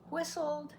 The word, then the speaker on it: whistled: wind no vibration whistled whistled has a silent T another thing we'll teach